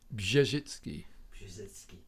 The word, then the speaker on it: Brzezicki: a couple of days please tell us the proper pronunciation of your name zizki yeah so that's lovely